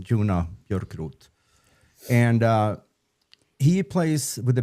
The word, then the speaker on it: Joona Björkroth: I think that's the way he pronounces his name, Joona Björkroth.